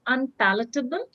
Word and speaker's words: unpalatable: your question please read unpleasable this tasteful yes the right pronunciation is unpalatable something that you just